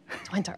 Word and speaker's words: Twente: Is that the right pronunciation? Twente. Twente, okay.